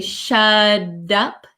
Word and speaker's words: shut up: so I would say shut up shut up shut up um sounds like a soft D sound shut up so when the t comes between two vowel sounds it can change the pronunciation so shut up shut